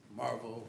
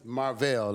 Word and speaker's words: Marvel: You pronounced it Marvel, which yes. Good morning. Good morning. Is that how you pronounce it? Say again, please. Is that how you pronounce it? No, it's Marvel.